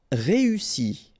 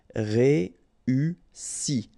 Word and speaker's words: réussi: Réussi. Okay, first you've got this E, then U, and double S, so really strong S and E. Réussi.